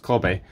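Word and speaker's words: Kabe: I've just been in a Kobe, that's Cabby, it's pronounced Kobe, van, and that it didn't work in theirs.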